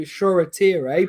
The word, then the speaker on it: Shoretire: Yeah, and I'm impressed, but we have to pronounce his name correctly because Ollie told us to, Shoretire, but Robbie has his way of saying it, what we all do.